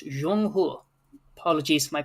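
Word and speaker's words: 中国: It's not China. It's Jeong Hur.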